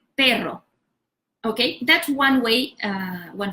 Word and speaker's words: pero: middle of the word like payroll you can say this level separately like pay draw okay you have mastered already how to say the raw sound before so then you say hey ro and everytime you keep doing it with a smaller pores in between hey bro hey ro pero okay that's one way